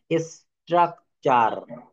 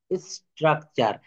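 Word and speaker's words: structure: অর্থাৎ শব্দে টি থাকলে টি এর পর ইউ থাকলে টি এর উচ্চারণ হবে চ এর মতো টি এর উচ্চারণ কিসের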